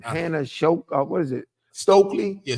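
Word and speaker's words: Stuelke: Hannah uh uh for Iowa yeah how you pronounce her last name Hannah shoke what is it stokeley yeah stokeley this girl came to play she did she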